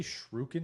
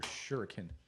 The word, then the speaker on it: shuriken: also badass Electro Shen you say shuken or shuriken shuken I say it like that there's no U after the r not cultured in Japanese